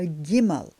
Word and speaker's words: Gimel: letter is called a giml it's like Gamal but it's giml and of course it's